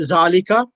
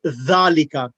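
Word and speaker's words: ذلك: We as Indian and Pakistanis, we read it zalika. That's incorrect. It should be dhalika. The tongue should be underneath the front two teeth.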